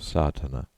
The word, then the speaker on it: sadhana: about the pronouncing of satana the accent Falls decisively on the first a which has the broad sound of the letter content 1.